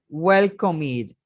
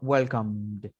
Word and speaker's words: welcomed: Es decir, que cuando es en pasado, yo no puedo decir welcomed, sino welcomed. Welcomed. Igual que feared, igual que learned, igual que prospered. Yo no pronuncio la E. Puedo pronunciar la consonante final, pero no la E.